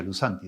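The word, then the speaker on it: λύσαντι: Uno se escribe lavado lousanti, pero no se pronuncia lousanti, sino lusanti. Y el otro, liberado, es lusanti, sin la O, pero se pronuncia lusanti. O sea, los dos se pronuncian igual.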